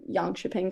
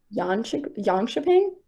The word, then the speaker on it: Jönköping: But honestly, like in Sweden when we were there for the Junior World in 2022 in Jönköping Curling Club, like that was just a really cool facility.